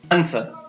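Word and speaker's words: answer: Next है कुछ और शब्दों में W का उच्चारण नहीं होता है, जैसे आंसर, ANS, आ, न, स और र, आंसर, इसमें W का उच्चारण नहीं होता है।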